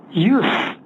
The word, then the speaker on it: use: 여기 이렇게 알아두면 좋아요 그때 유성은 발음하면 사용하다 하고 동사입니다 오늘은 명사 use 무성은 발음해야 돼요 철자는 같아도 발음이 달라요 원래는 the use 근데